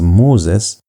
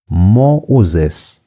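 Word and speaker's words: Μωϋσῆς: For example, you have you're supposed to pronounce it as Moses. But in this case, because of the diaris marks, you're going to pronounce it as moes.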